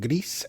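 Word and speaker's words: GRIS: little area has they they hard pronounce the s so it's greece is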